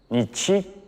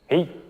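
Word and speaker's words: 日: How to read it? Ri. Right. This is our Chinese pronunciation. The word is also in Japanese. They read it as, nichi, or, hi.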